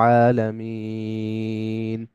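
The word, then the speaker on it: العالمين: প্রথম আয়াত আলহামদুলিল্লাহি রাব্বিল আলামিন এখানে আলামিন মিনটা লম্বা হবে একটু বেশি লম্বা হবে এক আলিফের চাইতেও বেশি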